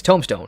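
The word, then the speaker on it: tomestone: of my recent videos it's it's a tome a tome and it's a stone so it's tome stone it's not a tombstone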